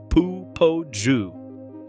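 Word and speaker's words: Popo Agie: The Popo Aji River, pronounced Pu Poju, for anyone who plans to ask about it locally and would prefer not to immediately identify themselves as an outsider, flows down from the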